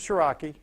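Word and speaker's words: Ciarrocchi: Joseph Shiraki, and Shiraki is spelled just like it sounds.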